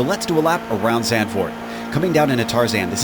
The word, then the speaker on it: Zandvoort: Pronounced Zandvoort, or if you're from Texas, Zandvoort, is the motorsports racetrack located in the dunes north of Zandvoort, Netherlands, near the North Sea.